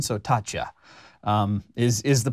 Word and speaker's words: Taccia: I'm going with an Italian pronunciation. So, Tatcha um is is the pronunciation that I have heard and that I'm going to go ahead and use.